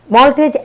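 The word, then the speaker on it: maltose: দ্বিতীয়ত এই মল্টোজ পরবর্তীতে ভেঙে মল্টেজ এনজাইমের সাহায্যে গ্লুকোজ। একটা কথা খেয়াল রাখতে হবে, খাবারের শেষে ওজ উচ্চারণ হয় আর এনজাইমের শেষে এজ। দেখো, খাবারের নাম মল্টোজ আর এনজাইমের নাম মল্টেজ, তো নাম শুনে আমাদের কিছুটা খেয়াল রাখতে হবে।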